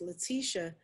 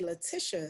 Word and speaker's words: Leticia: another way like so my name is pronounced leticia but a lot of people say latisha so another thing that